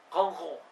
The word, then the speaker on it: Guingamp: de luis 14 el guingamp es un equipo de fútbol el gym camps en realidad se pronuncia algo así como con go y si lo otra